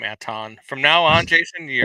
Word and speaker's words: Anton: love the fact that you pronounce his name Aton. From now on, Jason, you are Atten.